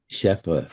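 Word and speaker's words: shefa: I saw it out as what' you call how do you pronounce she cheffa shepha the flow.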